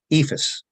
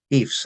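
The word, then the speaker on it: EIFS: the surrounding states uh ephus or eefs as Some people prefer to pronounce it is in so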